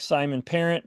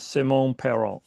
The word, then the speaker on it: Simone Perron: I know it looks like Simon Parent, but he's French, so he says Simone Perron.